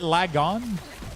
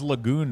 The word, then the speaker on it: Lagon: right lag on oh is it lagon oh lag on why is it so complicated for me to figure out the pronunciation of certain words it's crazy lag on these nuts I always thought it was Lagoon right because it's like